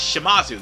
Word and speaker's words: Shimazu: Specifically, Yoshimazu's, God damn it, it's Shimazu, yes, Yoshihizo's, god damn it, why did I mispronounce that guy?